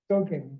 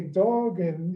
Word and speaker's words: Duggan: Duggan, because if I say Doggan, it means a whole different thing.